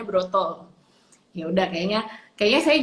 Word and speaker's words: Broto: suami saya itu yudibrata kalau orang Jawa atau bilangnya berat itu dibacanya Broto Ya udah enak kayaknya